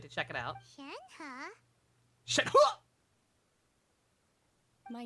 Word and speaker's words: Shenhe: I could have sworn in one of the earlier things talking about her, they said it's Shenhe, just exactly how it's spelled, but according to the demos, you have to say it like you're getting punched in the stomach halfway through saying her name.